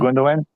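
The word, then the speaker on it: Gündoğan: I love when they pronounce Ilkay's last name. This is wonderful. Which one? Gundogan? They call him Gundogan. It is Gundogan. Gundogan. No, it's not. It's Gundogan. Gundogan. They don't. Yeah, I know, but they don't pronounce it that.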